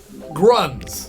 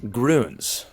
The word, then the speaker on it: Grüns: GRS no Tom what does this bag say grunts no Jak huh grunts no Cory please greens Maximus please GRS it's pronounced grons oh it's Gro and it's Gro to change